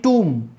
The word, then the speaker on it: tomb: ये आपको जो मैं ट्रांसक्रिप्शन बताऊंगा, जब फोनेटिक्स पढ़ाऊंगा, जब बताऊंगा, जैसे COMB कॉम, TOMB टूम, एम के बाद जब भी बी आएगा तो बी साइलेंट रहेगा, इतना ध्यान रखना है।